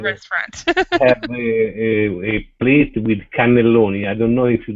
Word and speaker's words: cannelloni: How do you spell it? Is it Catalonia? Cannelloni. Ah, okay, cannelloni. Canoli.